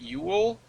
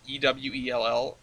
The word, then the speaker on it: Ewell: I'm going to guess that's pronounced Ewell, but it's E-W-E-L-L, Ewell.